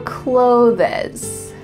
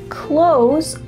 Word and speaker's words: clothes: Did you hear clothes or clothes? You heard the second one, but really that's not correct. Instead, when we speak in fast English, we often pronounce clothes a lot like close the door.